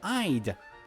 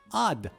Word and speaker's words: I'd: like to no they use contractions and say I'd I'd like to order something and yes that's